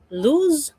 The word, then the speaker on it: lose: Loose B lose. Parang Z naman.